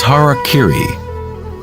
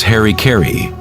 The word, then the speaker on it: harakiri: one form of ritual suicide or seppuku was harakiri was often mispronounced as Harry Caray it means to impale one's Hara thereby cutting